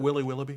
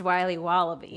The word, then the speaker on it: Wiley Wallaby: Can I have a piece of that Willy Willoughby? Wally Wibbly. Wiley's Wallabies. Wallaby Wallies? Wilby Wababy? It's pronounced Wiley Wallaby.